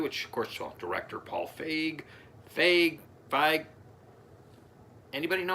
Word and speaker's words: Feig: Okay, it's pronounced Feig and Dippold.